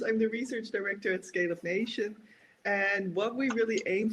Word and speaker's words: ScaleUp Nation: She's a research director at, I have to say it correctly, ScaleUp Nation, without an S yet.